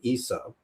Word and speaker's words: Yeshua: His real name is actually Yeshua with a very soft S.